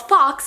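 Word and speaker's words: Fawkes: she has a book coming out that's called Fox, I was like, okay, F-O-X. But no, that's not how it's spelled.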